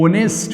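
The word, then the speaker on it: honest: तब हमको लगाना पड़ता है एन ऑनेस्ट बॉय, क्योंकि हम जानते हैं ऑनेस्ट वर्ड में एच साइलेंट है, ओ से उच्चारण करते हैं तो एन लगाना पड़ा।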